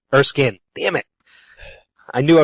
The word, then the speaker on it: Erskine: to talk to Maya Erskine. Erskin. Damn it, I knew I was going to do that. Yeah, we've been pronouncing it wrong this entire time. It's actually Maya Erskin, not spelled like Erskine.